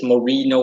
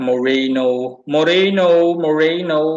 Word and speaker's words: Morino: It's always Morino instead of Morino. So instead of Morino with an I, it is Morino with an E.